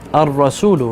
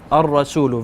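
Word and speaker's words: الرسول: What do I say? Ar-Rasulu, right? So I skip the lam. Ar-Rasulu, very good.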